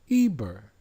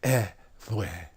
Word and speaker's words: Eber: It really isn't pronounced that way. In ancient Semitic language, it would be something like vwe. But because now we're speaking the English language and we're under English rule, they pronounce it as Eber.